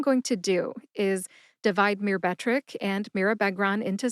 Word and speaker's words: Myrbetriq: It is Myrbetriq. Myrbetriq has 3 syllables. They are mir, like a mirror, as in always look